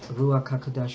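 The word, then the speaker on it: ruach hakodesh: the most high Yahweh that through that the ruaka kadash could discipline us through our spirit that's how I needed to say thank you so much Rua kadash for saying it correctly Hallelujah many disciplinary acts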